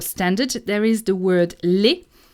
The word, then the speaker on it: laid: there is the word laid. Laid. I know what it looks like, but you need to pronounce it laid.